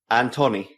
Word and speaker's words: Antoni: wrong letter yeah say antony no say it again and honey okay now say it fast and tony the accent goes on the a not the o careful i see pal